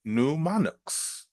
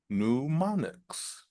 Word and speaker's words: mnemonics: grammar textbooks Etc and just so we understand how to pronounce this word which looks a little strange to everyone we pronounce it newonics newonics right so today we